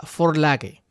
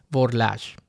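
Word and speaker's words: Vorlage: denominado de esta forma que es una palabra alemana que se pronuncia Ford lage pero que en español muchos pronuncian por lash o burlaje esta palabra significa prototipo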